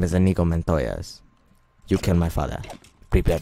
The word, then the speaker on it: Inigo Montoya: challenge me to a duel my name is antigua Montoya I said it wrong my name is what is his name and t go men Toya's forget I know it's an ego my name is Inigo Montoya's you kill my father prepare to die I